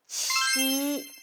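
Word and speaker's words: 七: 7 is qi. The hands like this. Qi. It sounds English word cheese. Cheese. Ch, ch. Qi.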